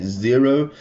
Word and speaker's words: Xero: have a look at zero spelled with an X and we're also going